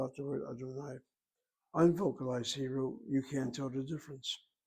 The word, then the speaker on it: Adonai: Yud He Vav He, which Jews pronounce as Adonai in their religious services.